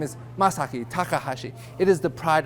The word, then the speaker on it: Masaki: uh am Miyaki masago is it you it's masaki actually I think to myself after I correct the pronunciation of my name where do they get these other letters from like Miyaki really and why is